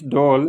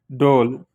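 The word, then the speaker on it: ڈھول: And for Roman, we call it DHOL, pronunciate like that, doll.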